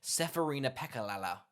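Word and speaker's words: Serafina Pekkala: can go oh my god here we go seferina pekka lala i was not writing that you nailed the pronunciation thanks i'm pretty chuffed with that i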